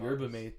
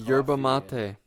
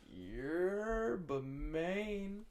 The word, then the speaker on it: Yerba Mate: Yerba Mate. That's how you. Yeah, that's how you say it. Yeah. Really? I mean, I see MATE, and I mean mate.